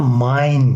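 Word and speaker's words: mein: Mesela mine gibi, mine gibi. Mesela e-i'yi biz ne yapıyoruz? I yazıyoruz. Mine şeklinde okuyoruz.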